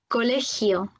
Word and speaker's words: colegio: Alors ensuite, nous avons le J et le G devant un E ou un I. Ils vont se prononcer comme un R en français, mais un petit peu plus dur.